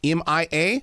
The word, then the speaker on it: Mia: it off with one thing my granddaughter uh pronounces her name Mia M.I.A but I've also worked with people her name